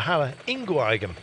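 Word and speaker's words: Halle-Ingooigem: The Halle Ingooigem.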